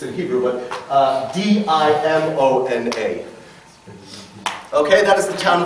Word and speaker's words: Dimona: French, the Israelis build in a town called Dimona a textile factory.